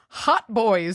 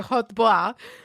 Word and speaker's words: hautbois: I know this, but they're also called the HAUTBOIS, Hot Boys strawberry, but I'm sure it's like hot bois. But to me, it's not. Oh my God. Are you serious? I'm deadly serious. Yeah. Spell it one more time. HAUT. So it's like hot couture.